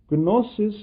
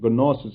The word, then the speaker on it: gnosis: Gnosis in the Greek language means knowledge, and I am purposely pronouncing it as gnosis. Actually, in the English language, the G is not pronounced, so it would be gnosis.